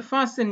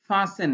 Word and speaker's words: fasten: You are supposed to fasten your seat belt. Fasten লিখতে টি হবে কিন্তু উচ্চারণ fasten হবে না, হবে fasten.